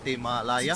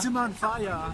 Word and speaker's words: Timanfaya: Timalaya? Timanfaya. Timanfaya. Timanfaya. It's very difficult to pronounce.